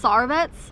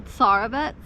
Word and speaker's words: Tsarevets: I don't know if it's Tsarevets or if you pronounce the T, Tsarevets Hotel.